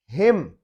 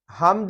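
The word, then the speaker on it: hymn: हिम, हमद है, नज़म है, जिसको कहते हैं हिम, तो इसमें एन साइलेंट हो गया।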